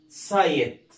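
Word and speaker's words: site: قلنا حرف الاي هيتنطق زي ما هو اي، يعني اقول له اي، يعني اقول ساي ما اقولش سي، اقول ايه؟ ساي، يبقى اسمها سايت. وطبعا حرف الاي في اخر الكلمه سايلنت ما يتنطقش، تمام؟ يبقى اسمها ايه؟ سايت.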